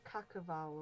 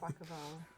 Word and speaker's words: Quaquaval: We thought it was like Cacaval or something. Quackaval. It's like Carnival.